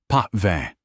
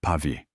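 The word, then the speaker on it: Pavie: "A Bordeaux, perhaps the uh Chateau Pve." He horribly mispronounced Pavi. Corin the Sumelier gave a polite, tight-lipped smile. An excellent choice, Msure. The Chatau Pavi is a remarkable Santillion.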